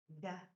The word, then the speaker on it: nda: Da, da, da, da. The N is silent in this one.